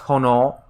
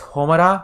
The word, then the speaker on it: 炎: And so what she's calling the word for flame here is normally pronounced hono. That's the normal pronunciation. And alternate pronunciation is homura, which is what Ronnie Bell's rune is.